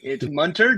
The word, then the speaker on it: Munter: It's Munter, just like Hunter.